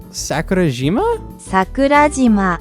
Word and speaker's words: Sakurajima: Sakurajima.